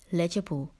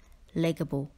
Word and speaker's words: legible: will have to rewrite do not pronounce this word as lega boo don't forget the letter i' word number 14 is